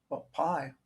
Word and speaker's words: pi: I just did it I said PI like everybody else to us but I have a friend who's Greek who told me that all of these letters that have a whatever was an eye on the end are pronounced with a EE sound C so this really should be P I think the Greek